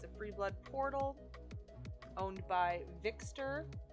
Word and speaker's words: Vyxtor: This house is his free blood Vixter's house. Vixter is spelled Vyxtor.